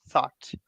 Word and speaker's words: thought: thought thorough thought tarot forgot about the the GH in the middle and go thorough thought thorough completely thought complete thinking